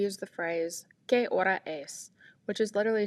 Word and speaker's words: y: If we want to add the minutes, we add the hour, as we talked about, the letter Y, which means and and is pronounced E, and then the number of the minutes.